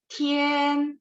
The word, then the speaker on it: 天: Jadi 天 nada 1, 天 boleh diulang untuk latihan.